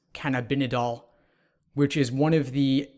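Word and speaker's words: cannabidiol: by using CBD oil which is I believe pronounced can have been a doll which is one of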